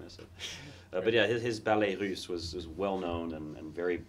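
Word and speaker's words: Ballets Russes: Ballet Russe.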